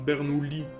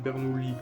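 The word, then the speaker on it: Bernoulli: semble que on prononce bernoui euh ce tuas pas de i devant les deux es donc ça il me semble que c'est bernoui qu'on qu'on prononce ok bah désolé puis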